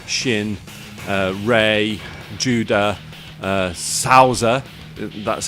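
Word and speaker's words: Souther: rao taki jaggi shin uh ray judah uh sauza that's how you pronounce it i don't know why they've spelt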